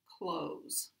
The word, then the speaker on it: clothes: with pronunciation, especially of clothes. Clothes and clothing have the same meaning. Clothes is pronounced like the word close, like close the door. It does not have a TH sound.